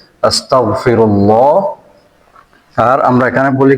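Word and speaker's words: أستغفر الله: গ টা বলতে হবে আস্তাগ গ এটার মাখরাজ হচ্ছে এখানে এই যে কণ্ঠনালীর একেবারে এইখানে গ আস্তাগ আস্তাগ এতটুকু না পারলে অন্তত ক যা যাতে না হয় বাংলা ক না হয়ে বাংলা গ তে উচ্চারণ করবেন আস্তাগফিরুল্লাহ এই যে আস্তাগফিরুল্লাহ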